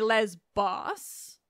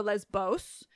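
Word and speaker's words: Lesbos: by that I mean English people pronouncing ancient Greek is to still hit the beta with the B sound and in modern Greek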